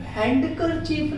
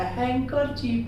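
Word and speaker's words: handkerchief: हैंकरचीफ, हैंडकरचीफ नहीं पढ़ा जाता, हैंकरचीफ पढ़ेंगे हम वहां पर।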